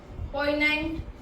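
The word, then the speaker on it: poignant: पोइनेंट, जी इसमें साइलेंट रहेगा।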